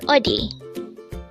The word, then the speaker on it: 어디: 84 o o this is pronounced as a two syllable word the first syllable is o second syo is D pronounce it with me